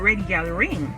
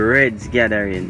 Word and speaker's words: Reds Gathering: But you'll be simply surprised to know that it's actually the pronunciation is not Red Gal Ring. Yeah, It's rather the Reds Gathering.